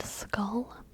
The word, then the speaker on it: skull: what about school and skull I also are pronounced in the same school rhymes with fool rhymes with spool rhymes with Rule and skull rhymes with gall and doll and Maul and call f is different from